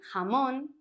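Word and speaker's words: jamón: in Spanish called H the J is pronounced like the H in the English word hot but often stronger like in hamon Julio and the pronunciation will depend on where Spanish is spoken because depending on the region it's going to sound stronger like in hamon or softer hamon I don't know if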